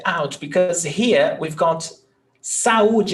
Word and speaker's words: saúde: When we separate saúde, we've got 3 syllables. So it's sa, u, oops. Saúde. Então, nós temos hiato. Vogal, vogal. They're in separate syllables. So, hiato, U, there is the accent.